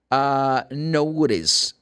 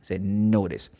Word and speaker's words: notice: Notice or notice. C-E. Notice. You don't pronounce the E in this case because the E is known as magic E. Say notice.